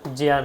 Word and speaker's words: জ্ঞান: উচিত এটা কিন্তু সত্যি এটা উচ্চারণটা হবে জিয়ান অনেক পরবর্তীকালে যখন গবেষণা বা অন্যান্য বই পড়বেন তখন কিন্তু উচ্চ জিয়ান হবে এখনো দক্ষিণ ভারতে অনেকে জিয়ানই বলে আমরা জ্ঞান বলি জিম নাস্তি জিয়ান নাস্তি